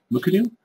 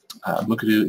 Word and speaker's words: Mukurtu: CMS let's talk a little bit about the pronunciation as you've been hearing me say it is muku um muku is the free and open source solution for